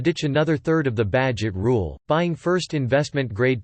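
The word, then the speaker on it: Bagehot: 150 years ago by Walter Badgett pronounced Badgett is to lend freely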